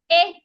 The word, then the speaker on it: ink: It's not E. Ink.